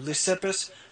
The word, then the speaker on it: Leucippus: I can't pronounce that. What is it? Leucippus? Thank you. Leucippus.